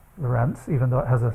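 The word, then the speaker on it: Lorenz: is not the Lorent but his name is pronounced Lorent even though it has a c on the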